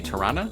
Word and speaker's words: Toronto: You say Tirana? Wait a minute. Toronto. That's actually what it's called? So it's if you were to spell it like it sounds, it's T-O-R-A-N-N-A.